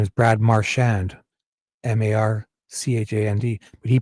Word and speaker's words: Marchand: Canadian guy and his name is Brad Marand, M A R C H A N D. But he pronounces it Marchand because I'm sure he was